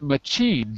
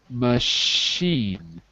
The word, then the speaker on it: machine: this word not not machine but machine it's the sh sound imagine it's spelled mushy